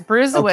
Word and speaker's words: Brusewitz: Yes, Brusewitz.